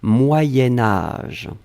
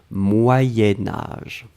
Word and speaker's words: moyen âge: alors moyens moyens4 sion quand on va le blier avec âge on va faire ce petit modification de prononciation on va dire moyenne moyen-âge d'un c'est pour ça que vous avez peut-être entendu moyenne mais en fait on écrit moyen moyen âge va être prononcée moyen-âge d'accord allez ce